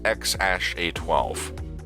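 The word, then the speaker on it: X Æ A-Xii: baby boy together and his name is x-a-e-a-x-i-i pronounced x-a-12 there's no denying that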